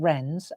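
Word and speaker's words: wren: birds, I've been making rens and robins. wobbins. Okay. And um isn't it funny? I mean, talk about the English language being complicated. The fact that a ren is spelled with a W.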